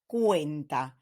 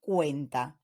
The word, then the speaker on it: cuenta: that comes after so if the letter C in Spanish is followed by the vowels the sound that you need to generate is like the English K in words like kayak koala or kudos so as such we have Casa Costa cuenta so the sea in Spanish when it's followed by the vowels sounds like a k ASA Costa cuenta on the other hand